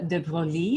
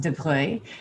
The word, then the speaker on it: de Broglie: that is anger's portrait of louise de bruy it's spelled de broglie but it is pronounced debre better known as the contest although technically when